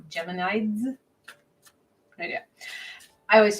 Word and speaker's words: Geminids: say it right it's it's basically Gemini with a DS like geminids good idea I always